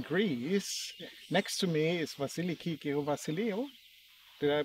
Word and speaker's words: Vasiliki: Next to me is Vasiliki Vasilio. Did I pronounce it right?